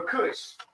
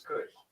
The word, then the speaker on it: Cush: So Kush with a C, not with a K. This is Kush. This is the real Kush, not the Kush I smoking up. Right. Kush. It's almost spelled like cushion. But the beginning of Kush.